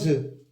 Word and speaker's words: œufs: Pour préparer une tarte, la maman a cassé tr œufs. Attention. Le F ne se prononce pas, c'est une lettre morte.